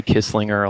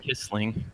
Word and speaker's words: Kissling: Kissling, yeah, Kissling. it's a lot of people get it wrong. They say Kisslinger a lot, but It's just pretty Kissling, right? easy. Yeah, Kissling? Kissling.